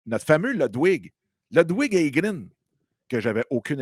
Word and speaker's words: Ludwig: Logwid. Comment? Logwid. Ludwig. C'est comme la crème Budwig, mais Ludwig.